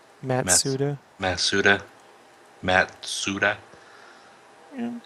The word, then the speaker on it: Matsuda: Yeah, Matsuda, man. Yeah, I know. I said it wrong. I was putting the S before the T or the yeah.